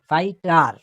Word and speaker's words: fighter: আর তারপরে ড্যাশ মানে GH আছে কিন্তু উচ্চারণ নাই, FIGHTER, ফাইটার।